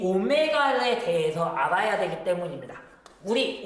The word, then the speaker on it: 오메가: Vm sin 오메가 t로 구할 수 있습니다. 여기서 Vm은요 최대값을 의미하는 거고요. 얘는 오메가라고 읽습니다. W가 아니고 그리스 문자고요. 오메가입니다.